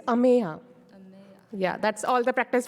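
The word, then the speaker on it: Ameya: so we are focusing we are stretching out Amaya just we say no it's Amaya yeah that's all the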